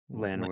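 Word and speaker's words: Landwehr: Nate Lanir or I don't know how to pronounce his last is it Lanir? Lanir.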